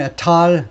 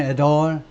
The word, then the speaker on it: et al.: 영국식 발음은 et al. 미국식 발음은 et al. 미국식 발음은 좀 소리를 좀 얌전하게 하면 돼요.